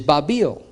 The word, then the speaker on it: Babil: Mani zarat babil now it's interesting that the his ancient pronunciation at least of this zigarette is babil and Hebrew is bavel and you look at other languages and it's the same but it's translated into English through the Greek which is babylone or